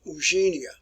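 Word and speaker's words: Eugénie: The name is pronounced Eugenia. It looks like it's Eugenia, but it's Eugenia.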